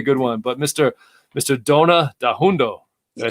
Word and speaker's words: Danhoundo: Dona Danhoundo, did I say it right?